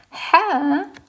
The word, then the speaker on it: ح: is the letter hair hair is pronounced from the middle of your throat hair just like when you eat something spicy do you remember our